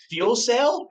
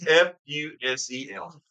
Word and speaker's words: fusel: Fuel cell? No, it's FUSEL.